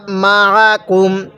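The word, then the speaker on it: مَعَكُم: অনেকেই কিন্তু আমরা আইনটাও পড়তে পারি না। আইনটা পড়তে গেলে আমরা হামজা উচ্চারণ করে ফেলি। আইনটা পড়ার সময় আমাদের গলার মধ্যে হালকা চাপ দিলে আইনটা সহি শুদ্ধ উচ্চারণ হবে।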